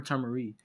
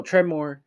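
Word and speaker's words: Tremor: or earth guy or tomorry hold on okay sorry my guys i i said it right this time uh i'm going to say the right this time try more so treymore uh scorpion noob sci-fi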